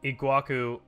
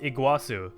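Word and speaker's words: Iguaçu: very few divisions okay looks like we have a guaçu which apparently it's actually pronounced Iguazu thank you for in the comments by the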